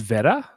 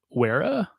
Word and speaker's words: Wera: But I think it's pronounced Vera, not Wera. If it's German, then yes, I would. Yeah. I would probably use the V sound.